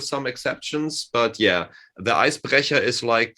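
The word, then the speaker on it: Eisbrecher: It's actually not, if you want to pronounce it correctly, it's Icebrecher.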